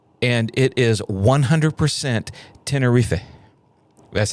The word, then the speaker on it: Tenerife: No, you pronounced it wrong. But no, it's not Tenerife. It's almost like a throwaway. Tenerife is how I heard the Spanish person saying it.